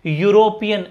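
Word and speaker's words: European: यूरोपियन, अब ईयू मत पढ़ना, यूरोपीय कुछ नहीं होता, यूरोपियन है ये, तो क्या आएगा, ए, क्योंकि यू निकल के आ रहा है।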